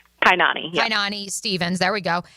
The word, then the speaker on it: Kainani: It is I'm pronouncing that right. Right. Kyani. Kanani Stevens.